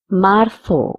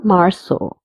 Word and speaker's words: marzo: Enero, febrero, marzo or marzo, because Z is pronounced as th or sa.